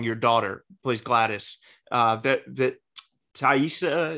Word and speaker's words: Taissa: daughter plays glattus uh Taissa is that how you say it I lost you oh TAA yeah is that right yes TAA fora yeah she's incredible in